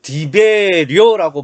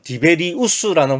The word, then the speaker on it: 디베리우스: 그러니까 이제 요때는 그 디베리오라고 마가복음에는 기록되어 있지만 실제로 로마 발음식은 디베리우스라는 황제가 예수님이 공생애 때 통치했던 황제예요.